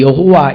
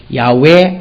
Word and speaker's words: 야훼: 우리나라 발음이 여호와 이렇게 돼 있고 히브리어의 정확한 발음은 아닌데 야훼, 아세르, 야훼 이렇게 돼 있습니다.